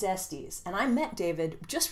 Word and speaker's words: Estes: This is Fire Country by David Estes, or Estes, depending on if you want to pronounce it correctly or incorrectly. I think it's Estes, and I met David